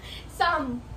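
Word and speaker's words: Psalm: Bakit siya pinapaulit oy May L ka dapat Sam lang parang Sam silent L ay sinasabi ko Sam lang Sam hindi h binabanggit ang L silent p tsaka silent L yun oo o ito siya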